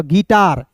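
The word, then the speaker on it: guitar: यहां पे you silent करेंगे तो जी आई का क्या हो जाएगा? गी हो जाएगा ना? टी ए का ट आर का लिखेंगे र गिटार क्या हो जाएगा दोस्तों आप लिख सकते हो गिटार फिर देखिए यहां पे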